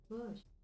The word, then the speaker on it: Bosch: Bush. Bush. Bush. Bush. Okay, it's bush. Okay, so it's bush, not a tree as Magda here said.